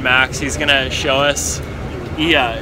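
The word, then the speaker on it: Oia: He's gonna show us Ia, it's called. It's spelled O-I-A, I think.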